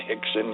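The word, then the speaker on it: Rickson: And then Hixon and Hoist, but they're all spelled with Rs, but they pronounced R like H for some reason in Brazil.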